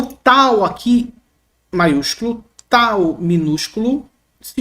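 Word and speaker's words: ταῦ: em grego assim Tal em português tal representa o nosso T como na palavra ter não representa um t como um t chiado como na palavra ti tá não tem esse tio tá bom se fosse em grego ia ser tio tio e não tio Beleza tem um som meio esse meio meio rígido outra letra é o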